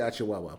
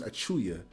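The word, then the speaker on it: Achiuwa: I always say Achiwawa, but his name is Achuya.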